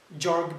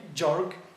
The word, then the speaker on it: Gjorg: examining the protagonist jorg barisha now barisha in his last name let me spell it b e r i s h a